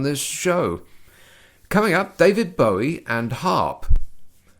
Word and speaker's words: Bowie: only once you'll only get the chance okay bowie so that was david bowie saying bowie but